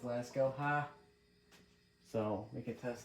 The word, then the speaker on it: Lasko: Fiasco rhymes with Lasko, ha?